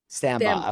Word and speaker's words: Stambaugh: last name I don't want to M up sambba okay I was gonna say it like that